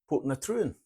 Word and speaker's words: Portintruan: the little trip around put Trin as it's pronounced and not spelled